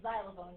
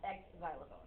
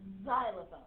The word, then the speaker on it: xylophone: three of you already it's xylophone it is not ex xylophone it's actually a z sound okay so that's your